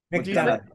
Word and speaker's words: McDonagh: And the best director nominees are Martin McDonagh, or how do you say McDonagh?